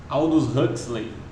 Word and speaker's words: Aldous Huxley: Do autor então Aldous Huxley, né? Assim que se pronuncia então o nome dele, tá?